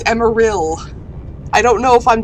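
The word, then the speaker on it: Emeril: any so don't just it's not emerald it's emma real i don't know if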